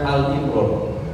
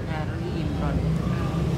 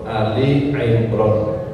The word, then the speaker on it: Ali Imran: itu ada al-fatihah Albaqarah jangan sampai Il bacaannya Al Imran Ali Imran Ali Im imr beberapa orang Saya dengar itu karena pertama biasanya Annas Alfatihah al-ikhlas menjadi Al Imran ya bacanya Ali Imran Ali Imron artinya